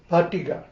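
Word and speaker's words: paṭigha: That little dot under the T means you pronounce it like ta, patigha, or inertia.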